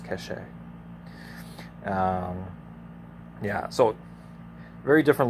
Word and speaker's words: Kaŝe: tree of kazakh cache it's pronounced cache um yeah so very